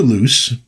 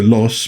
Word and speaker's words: Loos: book written by Anita Loose. Really, Anita Los, but apparently everybody just pronounced it loose and so she decided just to go along with it and not fight.